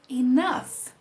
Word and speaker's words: enough: é pronunciado na palavra enough, né? Na palavra enough, ela termina com GH e a gente tem um som de F produzido a partir desse GH.